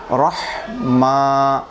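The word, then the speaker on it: رحمن: practice করব অনুশীলন করব গলাটা একটু চেপে ধরে আমরা হলকের মাঝখান থেকে হাটা উচ্চারণ করব রহমান বিসমিল্লাহির রাহমান নির নির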